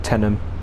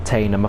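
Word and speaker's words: Teynham: not busy southeastern station this one's called tenem not tanem i've heard people call it tanum something stocktanum it's tenem correct pronunciation needed 85 miles per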